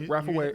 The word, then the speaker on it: Rapha Way: Rapha Way?